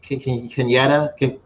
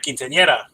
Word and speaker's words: quinceañera: Quinceañera, the celebration at 16. The quinceañera.